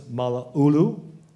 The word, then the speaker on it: Mala'ulu: Area 2, Vivian Williams Mala'ulu. It rhymes with Honolulu.